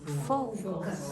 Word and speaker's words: focus: Now, in this word, the second syllable is very weak. All the stress is on the first syllable. So it's fo, Focus.